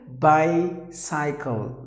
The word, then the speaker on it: bicycle: How do we say usually? Bicycle, like bicycle. It's not bicycle, not suckle. Bicycle, bicycle, bicycle. That's how you have to pronounce the word, not bicycle.